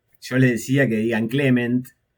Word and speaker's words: Clément: Argentina era eh que sepan pronunciar el nombre porque era o yo les decía que digan Clement o que me llamen Clem.